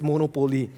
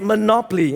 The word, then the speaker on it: Monopoly: Okay, I ask you to do that because I don't know why all Singaporeans pronounce it as Monopoly. Okay? Really? But it's Monopoly. And the purpose of Monopoly is simple.